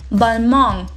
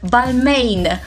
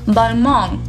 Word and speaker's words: Balmain: Так, ударение на последний слог. N не читается, как обычно у французов. Получается Balmain. На англоязычный манер название этого бренда произносится как Balmain. Oh my god, this is Balmain. Но у него французские корни, поэтому правильно будет Balmain.